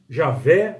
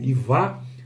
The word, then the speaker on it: Javé: de quatro letras que alguns especialistas leem como Javé outros nem como ia ou outros leem como e vá né a uma série